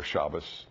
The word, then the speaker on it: Shabbos: Remember, sabbatical comes from the word Sabbath, Shabbat or Shabbos, depending on which pronunciation you want to use.